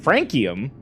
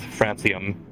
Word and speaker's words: francium: Nahonium, I don't know how to pronounce these. C frankium, or D selenium. Pronounced francium.